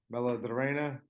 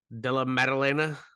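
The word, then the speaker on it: Della Maddalena: with matchup between Kevin Holland and Jack uh Bella Dorena did I say his name right de la medalena yeah I am so big on Kevin Holland uh at 170.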